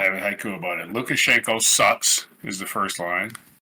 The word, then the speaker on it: Lukashenko: Lukashenko being 4 syllables alone. Yeah. Yeah. Lukashenko.